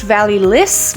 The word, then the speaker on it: Vallee Lys: I believe it is pronounced Vallee Lys.